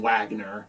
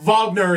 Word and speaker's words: Wagner: got that wrong and they kept mispronouncing his name on the show too they kept calling him Wagner but I mean that's uh we have Vagner is a very common